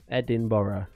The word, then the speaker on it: Edinburgh: Edinburgh yeah Capital Scotland where's Edinburgh Edinboro uh it's the same place why do you spell it so weird why do you spell it Edinburgh ah right okay anyway